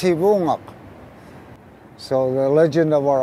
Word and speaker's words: Sivuqaq: Lawrence Island, Sivunga, Alaska, originally pronounced Sivungok.